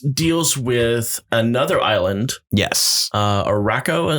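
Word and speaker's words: Arakko: Araco, am I saying it right? It's a Aroko? It's a anagram of Krakoa, so it's some sort of variation of those letters. I believe it's Araco, though.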